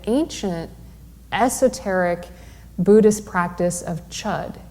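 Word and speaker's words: Chöd: comes with the ancient esoteric buddhist practice of chud it's spelled c-h-o-d with a diacritical mark over the o and it was developed by a tibetan nun named matrig labdron in 1055.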